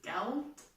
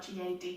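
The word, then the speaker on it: gade: I mean, I'm getting used to saying some things like road, I think is geld, and it's spelled G-A-D, so not gad.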